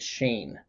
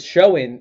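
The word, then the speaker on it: Schoen: few months ago but it's spelled s-h-o-e-n but you say it shane so that blew my mind wow i never know that yeah so it's showing is what everybody's been saying but i looked it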